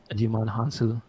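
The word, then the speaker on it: Djimon Hounsou: Digimon. No, the D is silent. Jimon Hansu.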